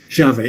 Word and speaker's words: Javé: Javé. Então, nós temos diversas maneiras de nós pronunciarmos o tetragrama sagrado.